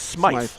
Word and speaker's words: Smythe: And someone eventually is going to do that, They're going to spell it Smith and say, no, that's Smythe.